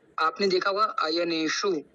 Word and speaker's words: अयनेषु: कि आपने देखा होगा आयने शु और सर्वेश तो इसके अंदर मुर्धन्य सकार है और मुर्धन्य सकार की